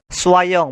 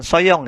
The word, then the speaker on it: soyons: Di bawahnya untuk nous, soyons, bukan soyong ya. Bukan soye, tapi ketika huruf o dan y. O dan y atau o dan i itu dibacanya sama. Wa, ya, w dan a.